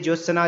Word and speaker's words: ज्योत्सना: इसका जो सही उच्चारण हो जाएगा ऑप्शन बी वाला हो जाएगा, आधा ज, यो, आधा त, आधा स, ना, ये बी वाला हो जाएगा, ऑप्शन बी सही हो जाएगा।